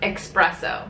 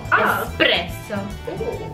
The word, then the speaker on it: espresso: is espresso as I've also heard it being pronounced espresso espresso yeah yeah espresso have an X it's just espresso espresso espresso s espresso espresso yeah okay the